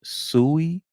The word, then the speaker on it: Sui: It's called, I think it's pronounced Sui, Sui, SUI, and I have started buying some of it.